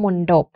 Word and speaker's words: มณฑบ: กุณฑล เงี้ย นะ คะ ส่วน เอ่อ ทธ มณโฑ ที่ ออก เสียง เป็น เสียง ดาว เด็ก ก็ มัก จะ ปรากฏ อยู่ ใน คำ ตาย นะ คะ อย่าง เช่น คำ ว่า มณฑบ คำ ว่า บัณฑิต คำ